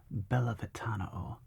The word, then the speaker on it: Bellavitano: Bellavitano.